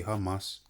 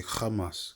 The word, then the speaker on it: Hamas: You know, they say hamas, but really you're supposed to say kamas.